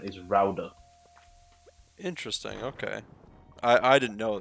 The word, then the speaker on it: Gouda: No, there's a lot of people call it Gouda, but every time a someone from the Netherlands be like, they die every time someone says it Gouda, but it's pronounced Rauda.